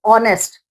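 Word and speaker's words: honest: तो ऑनेस्ट तो जब आप इसको पढ़ रहे हो ऑनेस्ट तो साउंड किसका आ रहा है? वोवेल का या कंसोनेंट का? ओ का साउंड आ रहा है। ठीक है? और ओ क्या है? वोवेल है।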